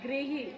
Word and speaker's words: गृह: ये ग्रह है और ये है गृह इ की साउंड आ रही है गृह अब आई होप आप